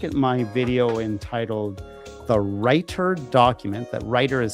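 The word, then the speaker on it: Reiter: Take a look at my video entitled The Writer Document. That writer is spelled R E I T E R.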